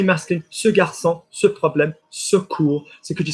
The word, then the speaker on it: ce cours: No, I don't want more R. I just want deeper OU into the chest.